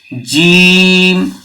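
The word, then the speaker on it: جيم: ছয় নম্বরে দেওয়া আছে জিভের মাঝখান এবং তার বরাবর উপরের তালুর সাথে লাগিয়ে উচ্চারিত হয় কি উচ্চারণ হয় জিম জিম আমরা জিমের মাঝখানটা তার বরাবর মানে সেই সোজাসুজি উপরের তালুর সাথে লাগাবো জিম জিমটা একটু চেপে উচ্চারণ করবেন জিম দাঁতে দাঁত লাগিয়ে দেবেন না দাঁতে দাঁত লাগালে এটা সম্পূর্ণ সঠিক উচ্চারণ আসবে না অতএব আমরা জিম যখন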